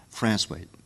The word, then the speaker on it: Francois: And it comes from a little town called Francois. It's pronounced, spelled Francois, but on the south shore of Newfoundland called Francois.